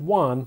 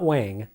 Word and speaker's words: Wang: hit head-on dragon one that's pronounced one not wang is more or less